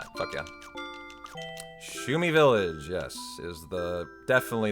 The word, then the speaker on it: Shumi: It starts with an S and rhymes with roomie.